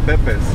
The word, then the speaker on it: Pepe's: Yeah, Pipis is right over there. Oh. Pepe's, that's Pepe's. Yeah, we pronounce it Pepe's. Pepe's? And it's spelled P-E-P-E-S.